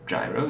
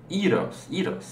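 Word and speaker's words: γύρος: And gyro in Greece, in Greek, is not pronounced gyro, it's pronounced eros.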